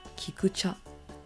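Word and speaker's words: 菊茶: And in Japanese, we pronounce this as kikucha.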